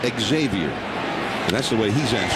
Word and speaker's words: Xavier: Xavier na that's foul na says that the proper way to say his name is Xavier but and it's a